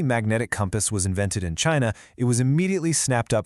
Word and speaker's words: qi: The absolute center of everything isqi, pronouncedq chi, it's the vital life force, the cosmic breath that flows through all things.